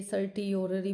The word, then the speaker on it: certiorari: फिर जो इसको बोलते हैं याद करने के लिए, स्पेलिंग याद करने के लिए सर्टियोररी बोलते हैं, जबकि टी साइलेंट होता है इसमें, ठीक है।